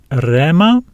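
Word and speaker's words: ῥῆμα: The breathing mark above the letter rho is silent, so we read this word as rema, rema.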